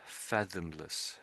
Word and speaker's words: fathomless: I'm not hearing the TH in the middle, so it's fathom, fathomless, fathomless. If you can, it's tricky.